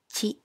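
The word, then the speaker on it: ち: In this lesson, we will learn the hiragana ta, chi, tsu, te, to. Notice that the ti syllable becomes chi and the tu syllable becomes tsu. Now, let's begin.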